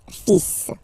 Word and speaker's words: fils: Okay, so it's le, and then even if you've got this L, well, basically you don't pronounce it, and then strangely you pronounce the final S. Le fils.